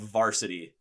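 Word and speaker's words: VRSTY: heard them one is called varsity they spell it as v-r-s-t-y it's like a post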